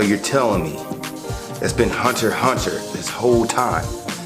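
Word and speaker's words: Hunter × Hunter: not wrong it's called hunter hunter 900x hunter the x is silent what do you mean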